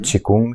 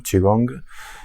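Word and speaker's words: qigong: qué es el chikung chikung chiong se pronuncia es lo mismo solo el término chino sería chiong el chikung también llamado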